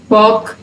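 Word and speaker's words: walk: Half, half, वॉक, इनमें जो एल है वो साइलेंट है, ए के बाद आ रहा है, लेकिन यहाँ पे ए के बाद साइलेंट नहीं है।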